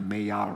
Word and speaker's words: Maillard: It was actually the Maillard reaction because it's French.